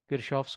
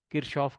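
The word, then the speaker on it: Kirchhoff: Based on this, we have something called the junction rule, or Kirchoff's current law, KCL. Kirchoff, Kirchoff, it's your wish, you can pronounce it whichever way you are comfortable.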